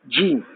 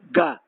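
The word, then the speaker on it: جيم: For example, like Egyptians, they cannot pronounce ja, jim. They do not correctly. Instead of jim, they go to ga, like this.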